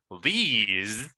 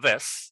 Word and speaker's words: these: These. Be careful there. It's not this.